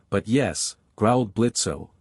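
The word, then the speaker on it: Blitzø: You would be Blitzo, I presume. The O is silent, but yes, growled Blitzo, not lowering his pistol.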